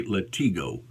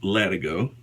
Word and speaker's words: Latigo: It's a number 30 Latigo strop, or some people may say Latigo, but it's pronounced Latigo, and it did an excellent job.